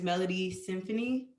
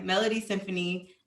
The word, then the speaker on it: Melodiesinfonie: So this guy's name is Melody Symphony, MELODIESINFONIE. It's spelled differently. But yeah, Melody Symphony.